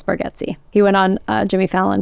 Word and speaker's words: Bargatze: Yeah, although we're all saying his name wrong. It's Bargatze.